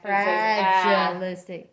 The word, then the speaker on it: fragilistic: So I'm just going to tell you, it's going to split after the G. And then I look at my syllable. It ends in a consonant. So that is short, closed. Okay. Okay, because of the fra. Frad. That's right. It's frad. It says ah. It is an ah.